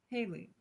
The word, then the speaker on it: Hale: Hale, for the last time, is pronounced Haley.